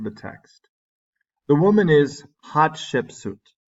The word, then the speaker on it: Hatshepsut: text the woman is hot ship suit hot ship suit that's the pronunciation who ruled Egypt during